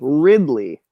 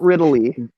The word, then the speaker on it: Ridley: it ripoli an alien no you say Ripley yes I say Ripley now it's the same thing except with the D Ridley not riddle e riddle e [ __